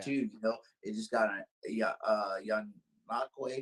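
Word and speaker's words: Ngakoue: It just got young Nakwe. Is that how you say his name is? Yeah, Yannick Ngakwe. Yeah, Ngakwe. Yeah, all these crazy names that you have.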